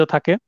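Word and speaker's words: thug: এরপরে ধারা 310, ঠগ, ইংরেজিতে থাক, উচ্চারণটা এরকম, ঠগ বা থাক।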